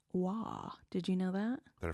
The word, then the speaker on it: Roy: There's a lot of Roy hockey players, and some of them are pronounced Wah.